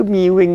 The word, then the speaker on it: mewing: orang-orang yang pertama miwing Oh bacanya itu miwing gitu ya miwing Oke miwing ini kan